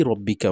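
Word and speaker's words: رَبِّكَ: রব্বিকা এটা সাধারণত তাজদিদের কায়দা আছে, রব্বিকা রব্বিকা, কাব জবর কা এটা হচ্ছে হারকাত, এবং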